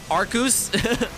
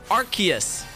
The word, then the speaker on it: Arceus: that arkoose arceus arceus i was thinking like ooze like like when you like pronounce zeus like z-e-u-s zeus it's not it's not zias right it's zeus but you know you know what i'm saying so arceus right but like with the